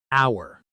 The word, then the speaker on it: hour: Hour. This word has a silent h. We say hour exactly like the word for belonging to us.